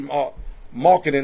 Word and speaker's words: Markkanen: I know the Golden State Warriors, this is hurting them because they really wanted the services of Laurie Markkanen.